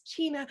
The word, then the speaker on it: China: A quick disclaimer, Fiona and Iona throughout this talk are going to refer to China as China, which is the more accurate pronunciation, but they both wanted to sort of, I say China because obviously it's how